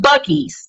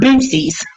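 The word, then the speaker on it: Buc-ee's: But anyway, And it's pronounced Bucky's, not Boosie's.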